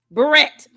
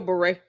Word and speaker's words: beret: Even if you do say barret, you've got to butcher the same word she butchers, you know, because it's still beret.